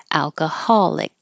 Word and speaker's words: alcoholic: going to be stressed alcoholic and hold the K that little Mark is there to remind you to put your tongue in the K position but don't release the C noise ambiguous ambiguous there's an